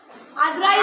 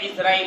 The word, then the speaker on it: ইজরাইল: চার নম্বরে হযরত আজরাইল আজরাইল আলাইহিস সালাম আজরাইলে শুদ্ধ উচ্চারণ হল ইজরাইল আলাইহিস সালাম আমরার সমাজও ডাকি আজরাইল আজরাইল ও আজরাইল এখন সবই দিছে অর্থাৎ